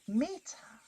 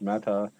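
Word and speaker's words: mettā: Well, that's the way Panivasa says it, and he is my guide to the pronunciation of all things Pali, but I have heard it pronounced metta, metta, metta. you'd really have to talk to a Pali scholar.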